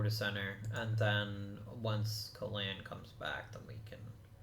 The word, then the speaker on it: Kalan: Or Colin, but I do think it's meant to be pronounced Kalan.